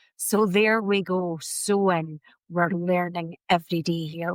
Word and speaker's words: Samhain: And forever I've thought that has been pronounced Sam Hayne. So there we go. sewing.